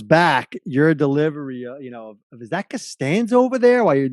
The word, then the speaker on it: Costanza: Well, I remember one thing they did ask was, they told me I was mispronouncing his name. It's Costanza.